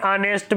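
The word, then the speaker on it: honest: नेक्स्ट, an hour, N एयर, एन ऑनेस्ट man etcetera. ये एच जो है silent है यहाँ तीनों वर्ड्स में, ये देखिए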